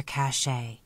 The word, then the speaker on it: cache: were Mighty busy Chipmunks filling their cache to use the Western term that rhymes with today meaning a hiding place